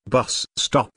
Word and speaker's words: bus stop: Bus stop is a compound noun, with the main stress on the first word.